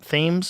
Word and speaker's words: Thames: Thames?